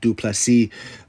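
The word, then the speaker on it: Du Plessis: want to give him Dricus, the S is silent, Duplessis.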